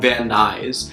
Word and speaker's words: Van Nuys: I was even pronouncing everything wrong I was pronouncing this one city but noise but it's actually called Van Nuys there's a part of LA called Los Feliz